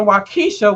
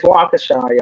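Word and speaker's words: Waukesha: online and they be like in wesa Wisconsin that is not how it's pronounced it's wakaa y'all wakaa so I feel like her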